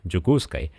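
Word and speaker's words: Дьокуускай: Но вот глядя на это слово, которое произносится как «джукускай», уже не так просто догадаться, что это Якутск.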